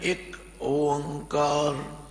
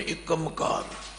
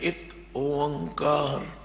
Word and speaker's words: एक ओंकार: तो उच्चारण है एक ओंकार, कई पढ़ते हैं एकमकार, कोई पढ़ता एकमकार नहीं। इसका उच्चारण करना एक ओंकार।